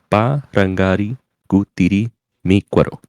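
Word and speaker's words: Parangaricutirimícuaro: You're supposed to put like an emphasis on the last part. I put the accent on like the first few parts.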